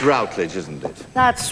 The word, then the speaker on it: Routledge: Would you please welcome the wonderful Patricia Routledge, pronounced Rutledge. Actually, it's Routledge, isn't it?